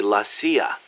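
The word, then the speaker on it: la CIA: around here they say laa instead of CIA huh nothing strange about it that's how it's pronounced when you read it in Spanish it has the feminine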